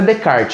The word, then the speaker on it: Descartes: do francis bacon transformed descartes não é de kart tá provavelmente na aula do pv do paulo vitor a pronúncia dele vai ser muito mais aceitável que a minha tá mas é de kart redecard o de kart